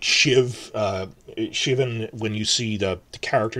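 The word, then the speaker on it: Siobhan: up in Season 2, if you see the letter S and I, it's pronounced like sha. So when you like Shiv, Shivan, when you see the character name pronounced like that, or Celtic pronunciation is different.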